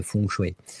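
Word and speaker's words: feng shui: Et normalement on prononce fouchoué euh qui peut juste dire vent et eau en fait hein.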